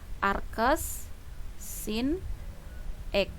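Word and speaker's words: arcsin: inforce Sin itu adalah Arc S sin-x seperti ini atau biasanya juga dinotasikan dengan Shin seperti ini ya Nah hati-hati ini hanya notasi ini bacanya Arc S sin-x bukan Sin pangkat min 1 ya hati-hati di sini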